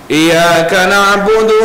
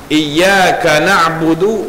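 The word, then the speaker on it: إِيَّاكَ نَعْبُدُ: dengan bacaan yang diubah seperti tidak mendatangkan tasdid iyaka na'budu wa iyaka nastain sepatutnya iyaka na'budu wa iyaka nastain ditekankan sedikit ataupun cara bacaan yang kedua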